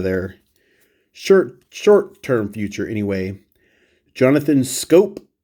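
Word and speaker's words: Schoop: Jonathan Scope. Easy to say his name wrong, but it's Scope like a rifle scope.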